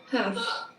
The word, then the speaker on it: half: Half. Yeah. L. Oh, yeah. L is a silent letter.